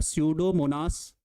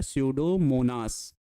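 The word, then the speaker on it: Pseudomonas: एक जीवाणु है जिसका नाम है सडोमोनास। ई साइलेंट होता है। पूरा पढ़ा जाता है सडोमोनास।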